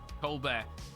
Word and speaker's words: Colbert: lot at that twitch colbert guys it's not french i i say his name how it's written he's not french um stephanie colbert it's